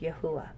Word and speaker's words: Yahweh: capital y capital h capital W Capital H pronounced Yahweh our father and master yahusha now you might